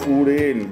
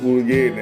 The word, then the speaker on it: Urgen: Here is your Uren, which you have mispronounced as Urgen.